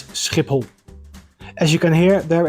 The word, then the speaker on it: Schiphol: So, the correct pronunciation is Schiphol.